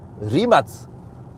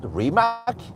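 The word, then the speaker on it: Rimac: It You have to pronounce it Remats, not Remac.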